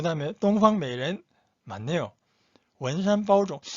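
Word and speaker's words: 东方美人: 8번 동방메이렌, 동방메이렌. 9번 우이 수이센, 우이 수이센. 이 발음 좀 어렵네요.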